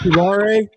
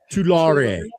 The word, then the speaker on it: Tulare: It's Tulare. Tulare. Tulare. Say it with us. Tulare? wasn't three, it was not how many Larrys, not one Larry, not three Larrys, but two Larry.